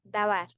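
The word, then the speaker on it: דָּבַר: La pronunciación, dabar.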